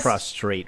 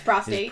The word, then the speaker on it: prostate: I'm pretty sure it's prostate.